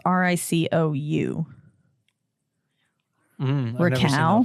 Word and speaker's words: Ricou: Rico Browning. I hope that's how you say his name. It's Ricou.